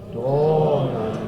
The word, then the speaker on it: dona: Remember, we don't ever really want to sing a pure O sound for the Latin O. I'm asking you to sing more of an AW. Dona, no matter where it is in the range.